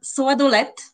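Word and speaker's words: сладолед: They both ended with a voiceless "ta." Yes, always. Yeah, yes. That's the phonetic rule in the language.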